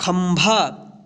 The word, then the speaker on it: खंभा: ख के ऊपर एक बिंदी है, यहाँ पे जो है ना आधा न नहीं होगा उच्चारण, यहाँ पे आधा म के रूप में उच्चारण होगा इस बिंदी का।